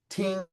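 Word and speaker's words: 聽: Ting, that's how you say it, uptone ting, and that tells you how to say it, but it's the character for the king.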